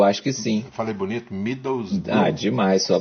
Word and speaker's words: Middlesbrough: Middlesbrough. Demais, sua pronúncia tá perfeita.